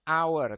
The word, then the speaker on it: hour: e ya tapi menggunakan an hour karena h-nya ini tidak dibaca dalam bahasa Inggris yang dibaca adalah e makanya dia menggunakan an